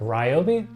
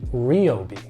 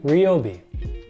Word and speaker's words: Ryobi: can be quite controversial a lot of people pronounce it Ryobi but have it worked directly with the marketing team from their company it's actually pronounced Ryobi re Obi Ryobi not Ryobi next up we have the Swedish Home Furnishings